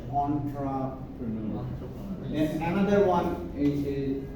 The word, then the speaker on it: entrepreneur: So we are most likely to pronounce it entrepreneur, but since this is a French word, they pronounce it as entrepreneur.